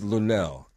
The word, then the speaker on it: Luenell: Well, her name is Luenell. L-U-E-N-E-L-L.